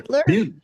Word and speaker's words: Butler: Am I pronounced Edith Butler, Beutler? Butler.